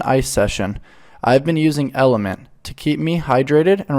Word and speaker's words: LMNT: that yeah for sure element T pronounced element is a tasty electrolyte